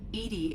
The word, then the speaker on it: EDI: are you named Edie Edie is the phonetic pronunciation of EDI that is an acronym for enhanced defense intelligence what do you do